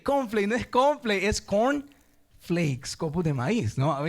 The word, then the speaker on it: Corn Flakes: el confl O sea no es cornflake decía yo es cornflakes o sea copos de maíz y ahora entiendo no